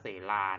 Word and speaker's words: เศลา: เศลา หมาย ถึง หิน คำ นี้ อ่าน ว่า เส-ลา นะ ครับ R R เซ รา